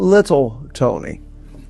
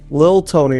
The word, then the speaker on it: Lil Tony: It's not Little Tony. It's Lil Tony, a rapper.